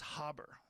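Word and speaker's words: Haber: that there's a guy named Fitz Harbor Fritz Harbor and Fritz harber that's how you say it and Fritz harber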